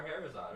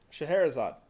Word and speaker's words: Scheherazade: She pronounce Scheherazade is how my mother is saying it's pronounced. that. Yeah, Shah- Scheherazade. Okay, I see it. Scheherazade.